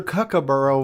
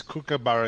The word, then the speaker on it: kookaburra: on the cook yes send back your kakaboro we'll replace it with a kookaburra okay right and and nick morente's concurs with that uh you you're verifying that proper pronunciation yes kookaburra is correct okay good good that